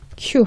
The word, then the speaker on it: queue: 발음이 queue, 한국어로 queue 이렇게 발음이 납니다. 복잡해 보이지만 스펠링 자체는 복잡해 보이지만 그냥 queue 아니면 그냥 queue 하나 있는 요 정도 소리라고 보시면 됩니다.